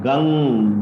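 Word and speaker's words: गं: From today you can start Om Gam Ganapataye Namaha. In certain pronunciation methods, it is Om Gang Ganapataye Namaha.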